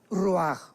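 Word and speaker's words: רוח: parte espiritual que es la palabra roach, que se pronuncia roaj.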